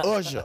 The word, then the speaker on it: Usher: Usher, let me just say Usher.